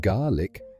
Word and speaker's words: Gaelic: Gaelic, pronounced garlic, sunshine and scallops.